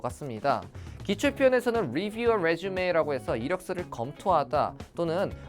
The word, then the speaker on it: résumé: 이게 부호가 달리 그냥 이로 바뀌어 버리면은 resume 재개하다라는 뜻으로 발음과 뜻이 달라지니까 이렇게 resume 함께 알아두시면 좋을 것 같네요.